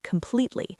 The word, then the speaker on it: completely: You need to hit the second syllable with a lot of force. Completely. The P sound in completely needs to have a burst of air behind it, and the E vowel sound needs to be stretched.